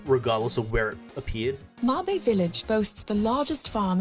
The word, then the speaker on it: Mabe: Okay, so Mabe Village, which I did pronounce wrong in the previous video, but Mabe Village is a farming village similar to Auden Village.